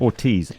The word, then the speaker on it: Ortiz: Ortiz.